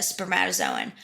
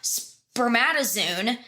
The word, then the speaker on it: spermatozoon: Or spermatozoon, which is how you should pronounce it in English. Because it's spermata, Z-O-O-N. It should be spermatozoon.